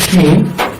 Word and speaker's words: شين: جيم جيم جيم جيم جيم جيم جيم جيم আচ্ছা, এরপর হবে হলো শিন। এটা হবে ছড়ানো হবে, শ্বাস চালু থাকবে এবং মাত্রা 6 অনুযায়ী হরফটা উচ্চারিত হবে।